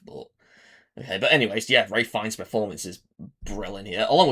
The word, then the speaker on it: Ralph Fiennes: his name is pronounced Rafe Fiennes. I always said Ralph Fiennes before, but I realized you actually pronounce it as Rafe even though you literally spell Ralph.